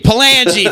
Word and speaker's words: Palangi: I got my man Palangi on the horn with me today. is that how you say the name? Is that proper? Palangi? Palangi, thank you. See, I don't pronounce names.